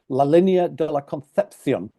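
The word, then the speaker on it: La Concepción: his town bordering jalter he pronounced it correctly as let me get it right la de concepion excuse me for bending my nose up my first introduction to the Spanish s sound being pronounced th Pat the Irishman not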